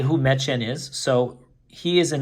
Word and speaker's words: Medjed: So here's his name, Medjed. It's pretty much just phonetically pronounced.